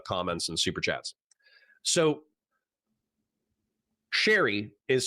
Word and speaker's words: Chaeiry: L in public where he hooked up with Sherry? I'll explain my pronunciation momentarily.